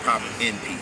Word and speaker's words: Popin Pete: You got to pause. But people couldn't do it, so I'd taken away the hyphen and just say, okay, Pop and Pete. But originally, you used to say my name, Pop and Pete, because pop is in me.